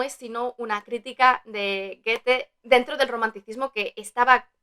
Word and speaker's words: Goethe: del joven Werther de Johann Wolfgang von Goethe, pronunciado en alemán, porque yo he estudiado alemán en el Instituto Alemán del Goethe y insiste mucho en pronunciar bien este autor porque es muy importante en Alemania.